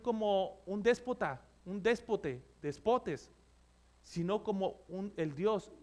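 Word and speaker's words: δεσπότης: del griego significa eh No es déspotas es despotes Eso significa en griego despotes ahí tiene el acento en la o despotes que significa dueño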